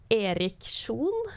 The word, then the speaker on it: Erik Sjon: Or if they're able to like replicate it, because like the Norwegian pronunciation would be Erik Sjon.